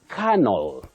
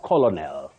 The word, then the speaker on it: canal: chaos chaos not cha canal canal not colonal gibberish gibberish not GI